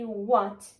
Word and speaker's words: what: pronounce it as W, and we have H, which is it's silent, so we're gonna say what can.